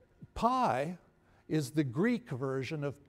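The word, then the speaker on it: π: Now that P is called for this purpose pi. Pi is the Greek version of P. In fact, in Greek, you pronounce it P, not pi, right?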